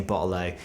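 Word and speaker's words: bottle-o: my British accent but you should hear the Aussie say botalo it sounds great they don't pronounce their te's it's awesome bot this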